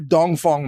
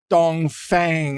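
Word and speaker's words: Dongfeng: dong Fong missile now a lot of Americans see that word and they actually pronounce it like dong Fang or dong Fang or something anyway because I speak enough Chinese to know that it's actually east wind and Fong is wind like Fong Han Tommy's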